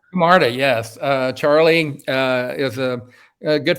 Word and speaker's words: Camarda: You were retweeting a lot of Charlie, is it pronounced Camarda? Camarda, yes.